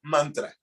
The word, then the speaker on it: mantra: In fact, the Sanskrit word mantra is 2 syllables. Say man and tra.